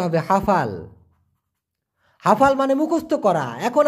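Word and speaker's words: hafal: এখান থেকে মুখস্ত করে ফেলবেন হাফাল হ্যাঁ হাফাল উচ্চারণটা হবে হাফাল হাফাল মানে মুখস্ত করা এখন আপনারা তের হাফাল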